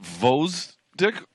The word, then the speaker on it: Gvozdyk: heavyweight world champion Alexander Gvozdyk in the blue gloves, taking on Brazil's Gvozdyk Rodrigues. Is it Gvozdyk?